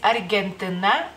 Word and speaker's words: Argentina: de la misma manera simplemente la g este en lituano se se pronuncia en cualquier o sea donde sea que esté digamos así como g g entonces en lituana es